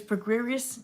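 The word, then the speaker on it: Prograis: Regis pre-greased just like Errol Spence pronounces it Regis program was supposed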